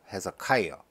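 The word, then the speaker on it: Hezekiah: 그 다음에 이 단어는 우리 성경에는 히스기야라고 나오는데 영어 발음은 헤zekiah, 머네스, 에이몬, 조사이어.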